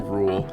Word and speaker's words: RVLE: The theme music for Bants is the track Time With You by Tala featuring Rule, and that's spelled RVLE, and is provided by No Copyright Sounds.